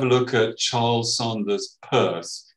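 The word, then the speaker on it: Peirce: look at charles saunders purse it looks like pierce but pronounced purse an american philosopher has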